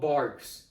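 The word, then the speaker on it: Barq's: They're like, "Dude, it's called Barks. I get the way it's spelled, but it's called Barks."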